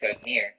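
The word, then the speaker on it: Gungnir: Nordic, Gognir, Old Norse, Gognir swaying, pronounced Gognir, is the name of the mighty spirit that belongs to the old god Odin.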